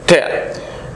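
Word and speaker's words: tear: তার অর্থ হচ্ছে ছেড়া চিহ্ন করা ছিঁড়ে ফেলা ঠে টি ই এ উচ্চারণটা হচ্ছে ঠে অর্থ হচ্ছে ছিঁড়ে ফেলা আর যদি নাউন হয় তার অর্থ হচ্ছে অশ্রু টি ই এ আর তার উচ্চারণ হয় ঠিয়া তার উচ্চারণ হয় ঠিয়া দিস ওয়ান ইজ টি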